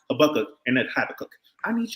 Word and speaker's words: Habakkuk: Know that it's pronounced Habakkuk and that Habakkuk.